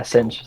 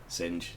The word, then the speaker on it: Zsinj: Yeah, Zsinj. Thought so. Okay, wicked. Zsinj. That makes sense. Yeah, just pronouncing things weird.